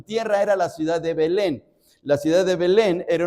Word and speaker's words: Belén: La palabra, la palabra Belén significa casa de pan. Casa de pan. En el hebreo no es Belén, sino es Betlejem. Betlehem. Bet significa casa, lejem significa pan, casa de pan. Pero en la en la estructura del español se reduce la palabra y se pronuncia Belén.